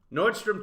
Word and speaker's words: Nordstrom: look at how now a lot of people get it wrong they pronounce it nordstroms that's that's wrong it's just nordstrom various people performed namely